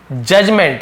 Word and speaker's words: judgement: है ठीक है परफेक्ट जजमेंट यहां पर भी डी आप देख रहे हैं ना जजमेंट नहीं पढ़ेंगे जजमेंट तो यहां पर भी डी साइलेंट रहता है साइलेंट लेटर कहते